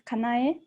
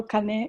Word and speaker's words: Kanaye: pronunciation your name actually my name is kanaye let me to sound every sound so if people call kane is really long wrong i know see i